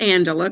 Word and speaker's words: Angelia: so and again it's it's pronounced Angela correct but it looks like Angelia so I'm glad that